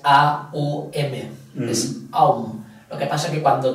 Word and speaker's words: om: el vale luego Ah el om se pronuncia om pero en realidad es a u m Lo que pasa que